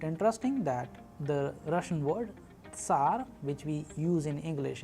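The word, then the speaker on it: Ц: Alright, the next letter, another very interesting letter which is found in Russian alphabet is known as Ts, Ts. Please pay attention when I am pronouncing the particular and a peculiar sound of the letter.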